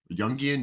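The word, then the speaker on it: Jung: yian out there occasionally and people are like yungan yungan how you pronounce it Carl Yung Yung yeah young yeah like to throw that one out there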